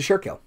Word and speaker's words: Schuylkill: go anyway but the Schuylkill so it's the surekill also try and spell